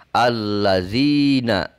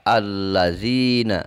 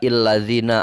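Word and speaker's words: الَّذِينَ: Ditulis pasti tanpa harokat, akan tetapi kita membacanya dengan memberikan harokat terhadap hamzahnya ini, yaitu dibaca a. Allazina, dibaca allazina. Nah, kenapa harus fathah? Tidak illazina atau tidak ullazina.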